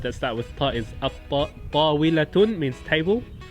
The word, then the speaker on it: الطاولة: Example of a word that starts with Ta is At-Tawilatun, means table. When you introduce a definite article is At-Tawilatu, so it's a sun letter.